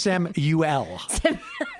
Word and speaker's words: Samuel: It's Samuel is actually the way I pronounce it.